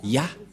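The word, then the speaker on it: יה: Ça se prononce Ya.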